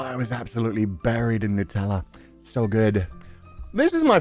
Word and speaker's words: Nutella: Yeah, no, I always thought it was Nutella. Yeah, Nutella. Because it was like nut. It made sense to me. But yeah, I've always heard Nutella from other people. They said it's pronounced Nutella.